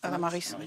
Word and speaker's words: tamaris: Le tamari, on prononce le S ou pas? Tamaris? Tamaris. Tamaris, on prononce.